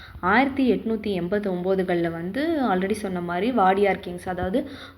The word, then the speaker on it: Wadiyar: நான் அந்த பழைய வீடியோவில் வந்து பார்த்திங்கன்னா வாதியார்னு தப்பாக ப்ரொனவுன்ஸ் பண்ணிட்டேன். ஆக்சுவலி அது வந்து வாடியார் வம்சாவளியில் வந்த மன்னர்கள் தான் வந்து பார்த்திங்கன்னா இந்த ஏரியாவையும் இந்த லொக்காலிட்டியும் வந்து டெவலப் பண்ணியிருக்காங்க.